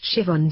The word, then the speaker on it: Siobhan: Siobhan, pronounced Siobhan.